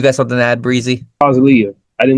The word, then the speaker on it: Murtazaliev: Murtazaliev. I did not want this episode to go by, and I did not pronounce his name right. Murtazaliev.